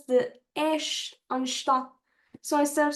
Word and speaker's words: estás: Como estás? Como estás? As you notice, any word in Portuguese that ends with S, we pronounce the S as a sh sound.